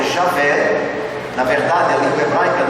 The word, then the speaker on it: Javé: pronuncia o seu nome, que não é Jeová, como dizem certas denominações protestantes. Jeová não existe, existe Javé ou Yahvé. Jeová é uma invenção posterior, 1000 anos depois de Cristo.